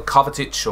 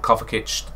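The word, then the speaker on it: Kovačić: to another showdown sbc today we have mateo kovetich or coverkitch depends on the way you pronounce it uh we've got the premier league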